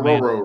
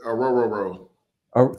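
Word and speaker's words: Orhorhoro: It's Ruko Ororo, right? Ororo. Three rows. Is it three rows? It's three rows.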